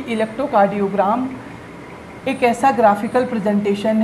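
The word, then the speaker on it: electrocardiogram: Electro कार्डियोग्राम। जी हाँ, हमेशा इसे ग्राम ही प्रोनाउंस करेंगे क्योंकि ये ग्राफ नहीं होता है।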